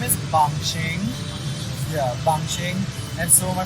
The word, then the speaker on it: Bangshing: street just call me Bangsheng. So then I guess now, I don't know how Bangsheng is that difficult. It's 2 syllables.